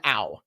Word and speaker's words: Au: First name, last name Ow, but it's spelled A-U. A-U!